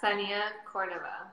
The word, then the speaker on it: Kseniya: me so i don't butcher it yes yeah senia someone can see it cuz where are you from originally i'm like butchered i was born in russia so i